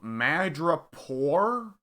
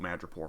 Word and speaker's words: Madripoor: It's not Pore. It's Poor.